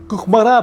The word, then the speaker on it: Кукмара: Кухмара, правильно говорить по-татарски.